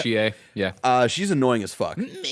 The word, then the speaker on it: Chie: Chie.